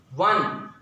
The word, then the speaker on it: one: So here you just pronounce this word one. So when you write it one, okay, what is it? W. The beginning sound is w.